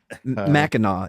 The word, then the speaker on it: Mackinac: Mackinac is how it's pronounced, I guess.